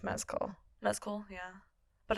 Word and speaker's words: Mescal: I also just very recently learned that his last name is pronounced Mescal.